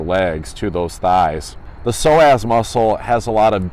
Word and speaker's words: psoas: gonna talk about the psoas muscle it's spelled ps0 AS that p is obviously cyan't silent so the psoas muscle